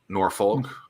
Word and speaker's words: Norfolk: I went to a volleyball game here at Virginia Beach, and I first pronounced it as like Norfolk, and someone's like, "Oh, don't say that. It's Norfolk."